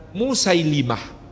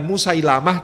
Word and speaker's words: Musailimah: Saya luruskan, banyak yang menuliskan namanya Musailamah. Saya cek di berbagai kitab sirah dijelaskan lamnya di kasroh, bukan di fathah. Jadi yang lebih tepat dibacanya bukan Musailamah tapi Musailimah. Musailimah pemimpin Bani Hanifah dari Yamamah.